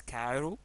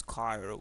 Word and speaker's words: Cairo: We can pronounce it as kaiu American pronunciation and also we can pronounce it as kairo British pronunciation.